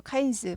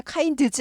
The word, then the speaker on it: kinds: kinds 하지 않고 kinds 발음이 드가 잘 안 들려요. 묵음은 아닌데 묵음은 아예 발음하지 말라는 거고 이거는 발음은 하는데 일부러 이 바쁜 시간에 kinds 하지 않는다는 거예요. kinds 잘 묻혀서 잘 안 들릴 뿐이다.